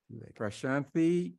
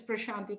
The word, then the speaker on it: Prashanti: commission for women um pranti Krishna and I apologize if I didn't accurately pronounced your name actually I think you're pretty close so thanks for that it's prashanti Krishna you're pretty close um yeah so good